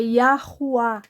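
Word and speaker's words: יהוה: E esse aqui tem um A tônico. É Yahuwah.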